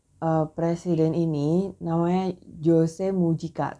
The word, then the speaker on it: Mujica: presiden ini namanya Jose mujica tulisannya berdoa mungkin bacanya Jose Muhyi baca hal memang benar